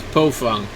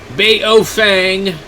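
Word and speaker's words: Baofeng: You know, I mean, nobody, even for a while, they were selling a radio that was said Pofung, because supposedly that's how it's supposed to be pronounced, is Pofung. Baofang.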